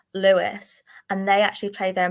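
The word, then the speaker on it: Lewes: They're called, I think it's pronounced Lewis, and they actually play their men and women the exact same.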